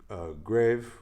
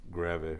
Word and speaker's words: Greve: I'm also a member of a group called The Choir Invisible, featuring Charlotte, which is really Charlotte, Grave, which is Greve, really the right way to say it, German alto saxophonist, born in Germany, living here for many years.